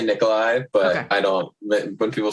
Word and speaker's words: Nikolai: So, just because I've had problems with this before, is your name pronounced Nikolai or Nikolai? Either one. I I say Nikolai, but I don't when people say Nikolai, it's totally fine.